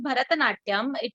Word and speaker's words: भरतनाट्यम: लेकिन ये जो नाम है, this is भरतनाट्यम, there are 3 syllables, भ, र एंड नाट्यम।